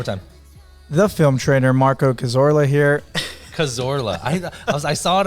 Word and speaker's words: Cazorla: name one more time the film trainer marco cazorla here cazorla i saw it i'm like i'm